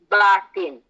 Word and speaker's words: Batin: And that means we must correct everybody's pronunciation, say that the word is actually Batin.